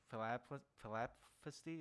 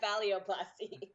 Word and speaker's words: phalloplasty: So because of your transition, have you thought about going in, like, to, I guess, have surgery for philapsty? Is that how it's pronounced?